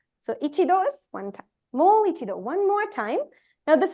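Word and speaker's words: もう一度: Just pronounce it as mo. Mo. Mo. Then? I. Ichido. I. Do. Do. Yes. Mo ichido.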